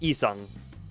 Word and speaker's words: Yi Sang: It's just not pronounced in Korean. I figured cuz I was trying to So it is more just like isang.